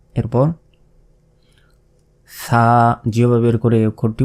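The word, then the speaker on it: ثاء: তিন নোক্তা এটা হচ্ছে সাটা অবশ্যই জিবাভাবে বের করে উচ্চারণ করতে হবে এরপর এটা কি ওয়াও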